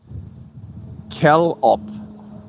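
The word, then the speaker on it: callop: It's pronounced Calop.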